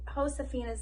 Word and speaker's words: Josefina: it will tell you what the word means and how to pronounce it remember that in spanish j is pronounced like h that means joseph josefina's name is pronounced josefina i'm gonna start crying